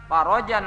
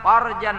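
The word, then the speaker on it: فَرَجًا: Apabila membacanya Allahumma farrij anna, farajan ajila, ya Allah berikanlah kami kelapangan yang segera, karena mereka saat ini merasakan kesusahan, kesengsaraan. Beri kami kelapangan. Tapi apabila membacanya salah harokat, Allahumma farrij anna farjan ajilan. Nah ya Allah lapangkanlah kami kemaluan kami yang lapang.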